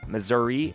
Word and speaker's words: Missouri: missourians still cannot decide the correct way to pronounce their State's name today Missouri and Missour are used to Signal a lot